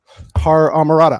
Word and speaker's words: HorrorAmorata: Did you say the H? I did. I said HorrorAmorata. I usually New Yorkers don't pronounce H's or certain words, so I said it.